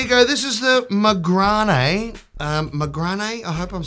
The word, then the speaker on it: Magrane: I'm saying that right it's got the little French uh thing here with the E so hopefully mcran is I'm pronouncing that right I think the little Dash in French means the E has to be pronounced as an a this is from Goo